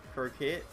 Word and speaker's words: croquette: a baguette a crockett croquette i know you don't pronounce the u that would be red